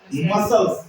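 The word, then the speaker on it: muscles: समझ रहे है ना यहां पर पढ़ना है मसल्स क्या पढ़ना है मसल्स माने मांस पेशिया ठीक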